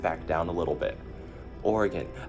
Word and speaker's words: Oregon: Oregon, I've heard people pronounce it Oregon. That's not okay.